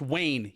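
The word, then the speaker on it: Wein: how they spell it w-e-i-n pronounced wayne you know party on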